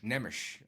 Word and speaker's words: Nemes: By Wade, you're the master of foreign pronunciation. Laszlo Nemes, I think. Nemes.